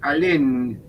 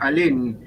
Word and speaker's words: Alem: autonomista fue un tal alem alem con con n el con n acento en la e y en alem y lo colgaron lo